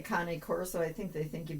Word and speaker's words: Cane Corso: that we have been questioned about is the pronunciation of the name. I frequently just call it a cane corso. C A N E Corso. Uh and it's actually Connie Corso.